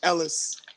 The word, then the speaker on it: Ellis: go oh by the way you said my name wrong it's Ellis Oh Louis Oh with the Dre head dude